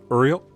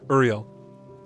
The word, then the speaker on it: Uriel: Yeah, it's Uriel. Oh my god, Earl? No. I said it right the first time. Uriel.